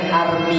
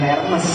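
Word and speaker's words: Hermès: masih pakai barang KW bacanya Army bukan Hermes itulah bahasa Perancis itu bahasa yang munafik tulisan sama bacanya beda Rp20.000 tas 200 juta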